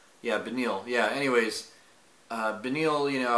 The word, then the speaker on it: Beneil: Yeah, Benil. Yeah, Benil.